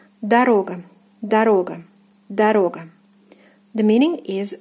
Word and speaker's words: дорога: So the stress falls here on the second syllable, the second O. It is pronounced as O. So the first unstressed one will be pronounced as A. Дорога, дорога, дорога.